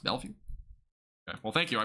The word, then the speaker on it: Bellevue: So Bellevue. That's really how it's pronounced. Bellevue. Okay. Well, thank you. I appreciate you. Bellevue.